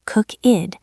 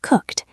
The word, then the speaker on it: cooked: It is not cookid. It is cooked. The ed sounds like a t.